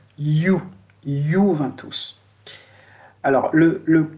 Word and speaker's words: Juventus: Alors, le i, c'est-à-dire le i, le j, ça se prononce avec un i lent, hein, qui est lent. C'est-à-dire, par exemple, le club de Juventus. Vous allez le lire comment? Juventus. En italien, on dit Juventus.